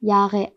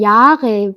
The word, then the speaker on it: Jahre: 요거 Jahre 발음 어려우시죠? 이거 어떻게 발음하냐면요. 일단 요게 영어에선 J잖아요. 근데 독일어에선 이거 J라고 부릅니다. 요거의 쓰임은요. 이게 J 소리가 전혀 아니에요.